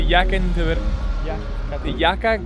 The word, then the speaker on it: Yekaterinburg: We are on our way to Yekaterinburg.